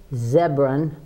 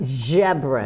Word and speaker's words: Ziobron: I'm going to introduce my guest it's zebron pretty close pretty close okay what is it it's pronounced Sharron jebra that's okay that's okay it's okay no I'll